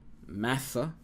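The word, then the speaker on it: משא: So the accent is here, massa, ma, patah, and sa, kamis. So that's how you should remember the sound.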